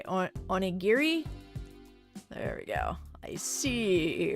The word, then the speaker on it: onigiri: Oh, more of a hard G. Okay, onigiri.